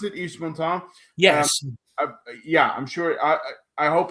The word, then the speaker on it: Yves Montand: Is that how you pronounce it, Yves Montand?